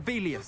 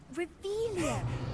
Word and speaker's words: Revelio: You're Revelius. saying it wrong. Ugh, Revelia.